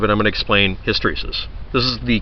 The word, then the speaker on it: hysteresis: not aware of it I'm going to explain hysteresis this is the correct pronunciation for it and it's often used as